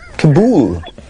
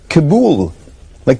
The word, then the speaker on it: Kabul: I said kabul. Kabool. Not kabul like we would say over here, but kabool like they would say over there.